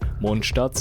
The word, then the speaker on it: Mondstadt: you on a wild and wacky Journey Through monat's History yes that's how you pronounce it consisting of events such as incidents